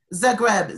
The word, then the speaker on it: Zagreb: the greb so I say that again and spell it Zagreb z a g Reb okay it's one of